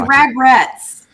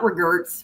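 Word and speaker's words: Ragrets: It's Ragrretz, not Reggers.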